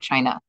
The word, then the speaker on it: qin: from that part of China and it's called the chin player because this woman is playing a chin so q i n but pronounced with a CH sound uh we're going to